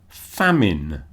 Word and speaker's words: famine: Famine. When there is no food, often because there was a drought. The drought causes a famine. So, famine. Ignore the e on the end.